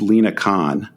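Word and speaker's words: Lina Khan: but uh yeah and by the way it's Lena Khan um I don't want to endure the Wrath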